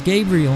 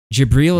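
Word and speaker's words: جبريل: he thought it was Gabriel I thought it was G he thought it was jabril Gabriel jibril is how you say it in Arabic I see I know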